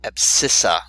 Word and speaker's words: abscissa: So another word to describe the x coordinate is called abscissa. The C is silent, and the y coordinate is the ordinate.